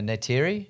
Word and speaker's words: Neytiri: Naitari? Natari? Natara? I don't think so. Is that it? Really? Yeah. How do you say that? Yeah, Neytiri.